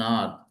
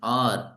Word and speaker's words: hour: He waited for an R. So this is not how it is an R. So H is silent here. He waited for an R of half an hour.